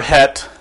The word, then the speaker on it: Chet: pronounced hip or hip with a little sound in the throat the shape looks like a small letter in from English or the Latin alphabet and the letter het is the culmination or